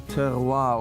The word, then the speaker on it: terroir: But when you really squeeze out the essence of your terroir, of your vineyard, that's when you certainly taste the difference. What is that word you just said? Terroir, that's the French way of pronouncing it.